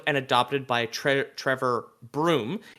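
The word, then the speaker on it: Bruttenholm: arm was found and adopted by Tre Trevor broom it's written brutin home but pronounced room I have no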